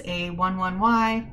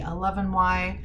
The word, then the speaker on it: A11Y: And some folks will pronounce this A11Y, others will say A11Y, and still others say ally or ally. I personally like ally because practicing accessibility is also practicing allyship with disabled folks.